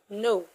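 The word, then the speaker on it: nos: masculine and feminine okay that plural is no please not no no n o s no the s is silent no a dogs okay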